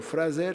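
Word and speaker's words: Frazer: Alors, dans Le Rameau d'or, Fraser, ou Fraser si on prononce comme en langue française, nous dit que le cannibalisme, c'est l'appropriation des vertus des morts, n'est-ce pas?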